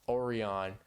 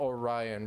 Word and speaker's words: Orion: I really can't I I said or oron oron for Orion for the longest time oh yeah literally I